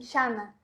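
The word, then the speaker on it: Zara: A frase é a seguinte: não encontrei el pantalón en Xana. Exatamente assim, a pronúncia, exatamente assim.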